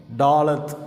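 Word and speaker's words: ד: இதை எழுத்தை டாலத் அப்படின்னு உச்சரிக்கிறோம்.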